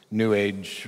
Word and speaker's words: new age: I find in this new age rhymes with sewage woo stuff to to